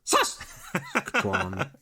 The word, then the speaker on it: Saskatchewan: And she also points out that we were pronouncing Saskatchewan. Saskatchewan. And Saskatchewan incorrectly. Wow. It went from Yoda to Karate Kid. That was a whole gamut. Emphasis is on the first syllable, apparently. Saskatchewan.